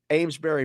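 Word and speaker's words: Amesbury: actually it is it is spelled in properly pronounced yes amberry Massachusetts um era oh boy era I'm sorry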